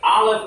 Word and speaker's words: Aleph: is an ox head, the Aleph is a silent letter. So everyone say Aleph. Aleph. Now originally this is made with a guttural sound, so in the back of the throat it would be Aleph.